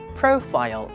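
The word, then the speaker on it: profile: 가지 야 이거 지수 프로필 사진 바뀐 거 봤냐 프로필 프로필은 영어로 정확하게 어떻게 발음할 그요 프로필은 프로필이 아니고 프로일 이렇게 발음하시면 됩니다 왜 또 막 그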